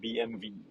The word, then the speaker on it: BMW: if we are talk if you talk to german it's actually called bmv yeah so yeah some